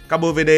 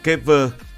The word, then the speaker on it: Cabo Verde: Capovd là đọc theo kiểu của Bồ Đo Nha. Đọc theo kiểu tiếng Anh thì có người đọc là Kever.